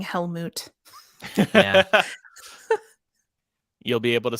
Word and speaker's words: Helmut: It was Grimson, although I love saying Helmut. Yeah. You'll be able to say his name many more times when reviewing the forthcoming Oh, great. Fantastic Beasts movie. Yeah. And we're not calling him Helmet, right?